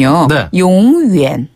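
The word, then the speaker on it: 永远: 요거는 제 견인요금 이런 뜻이었죠 그다음에 영원하다라는 뜻의 발음은 용 위엔네 용 위엔 한번 더 위엔 어 멋있다 용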